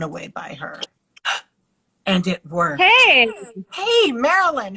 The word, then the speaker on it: Maryline: joined us this is Marilyn a more romantic name there never was and those spelled merry line it is pronounced in the French fashion as French as your